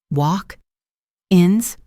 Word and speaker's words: walk-ins: Do you accept walk-ins?